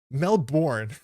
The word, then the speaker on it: Melbourne: to be a myus it's pronounced melbour Melbourne thank you Dave yeah